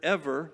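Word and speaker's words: עבר: Rabbi Yehuda taught the word ever means opposite side. So Abraham believed in one God. Ever is kind of how that word is pronounced, Hebrew, at least from the information I got from this commentary.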